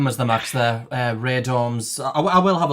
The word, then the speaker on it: radome: Uh, Ray Dorms. I I will have a look at the pronunciation just to see what it is. If anyone cares. You're on mute, Ra. Radon. Yeah, it's Radome.